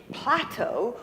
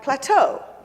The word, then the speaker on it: plateau: lot of words where the accent is on the second syllable, not the first syllables. Instead of plateau, we have plateau.